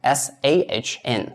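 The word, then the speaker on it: 三: So we read it as s. So this is the trick for you to do s a hn.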